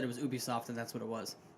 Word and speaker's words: Ubisoft: You should know that it's not pronounced Ubisoft. If it's your passion, We already had this discussion. it's Ubisoft. Are you sure? Yes, because it stands for ubiquitous software.